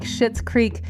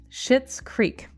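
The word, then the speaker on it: Schitt's Creek: shows like queer ey to Comedy dramas like shitz Creek we are basking in the very best distractions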